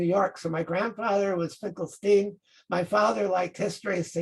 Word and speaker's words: Finkelstein: Well, then you hear, you see Finkelstein. Oh, that's even funny. Steen is how New Yorkers pronounce it. Yes. Stein is how Germans.